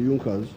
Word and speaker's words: Junkers: known as the junckers it's written in the junkers but it's pronounced as the yonkers in the german kingdom